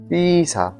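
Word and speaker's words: Pizza: ওমা পে ওকে মান পে পেতে পিজা পেতে পিসা পেতে পিসা এখানে পিজজাকে পিসা বলা হয় বা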